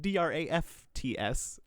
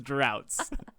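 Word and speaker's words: draughts: it okay it's better it's spelled d-r-a-u-g-h-t-s but in our google document i felt it necessary to put d-r-a-f-t-s because i was afraid that my poopy dum-dum brain would misread it as droughts and that is the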